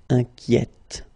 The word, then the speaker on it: inquiète: Okay, so in that case, it's already open, the sound inquiet, okay? So you only hear the T, inquiète, Okay, so journalier will become journalière, and then inquiet will become inquiète.